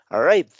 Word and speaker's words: arrived: Después, en el pasado simple sería arrived. Volvemos a lo mismo, ¿verdad? No se pronuncia la letra E. Estoy juntando la V con la D.